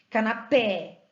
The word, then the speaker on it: canapé: Canapé, eu não falo canapé, eu não falo canapé, eu não falo canapé. A sílaba tônica está no pé, termina em vogal E, leva acento.